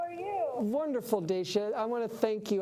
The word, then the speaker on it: Dacia: Did I pronounce it correctly? Dacia? Oh, it's Dacia.